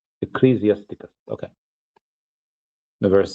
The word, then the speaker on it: Ecclesiasticus: It's pronounced Ecclesiasticus. Ecclesiasticus.